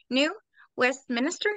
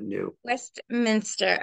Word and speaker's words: New Westminster: it wrong because I said it wrong before New West Minister did I say right New Westminster like Westminster ABY but New Westminster okay in British Colombia and that's a beautiful